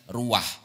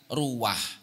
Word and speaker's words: ruwah: disebut dengan istilah bulan ruah atau bulan diambil dari kata-kata Arab arwah akhirnya diucapkan dengan lidah Jawa menjadi istilah bulan ruah Nah ada beberapa sebab